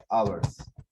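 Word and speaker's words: hours: फिर 2 घंटे के लिए फॉर लगेगा और फॉर के बाद आप बोलेंगे 2 आवर्स, इसमें एच साइलेंट होता है।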